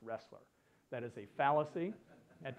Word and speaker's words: Roesler: choose the acronym because my last name is pronounced wrestler that is a fallacy